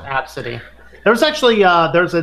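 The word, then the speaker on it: ABCDE: He said there's 30 people that have named their kid A, B, C, D, E, and they pronounce it Absidy.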